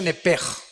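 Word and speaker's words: נפש: Digo, por favor, esta palabra alma en el original hebreo es la palabra nepesh. Apúntala, como suena nepesh, con SH. Se pronuncia nepej.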